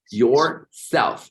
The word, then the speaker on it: yourself: Ahora, el your no se pronuncia la U, solo se pronuncia la O y decimos your, que por cierto se pronuncia así, mira, ve, yourself, así se pronuncia.